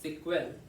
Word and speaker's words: SQL: Sequel, pronounced sequel, stand for a structured query language, a programming language used to communicate with a database.